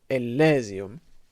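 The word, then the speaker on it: Elysium: aus election there's a huge amount of dispute about how to pronounce this word but i've decided that we're going to say ellesium um every time it's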